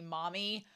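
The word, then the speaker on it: Mami: mispronouncing it and saying mamy but it's supposed to be Mommy why show why grammar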